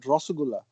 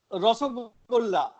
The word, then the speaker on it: রসগোল্লা: Rasgulla or how do you pronounce it? Rasgulla. রসগোল্লা.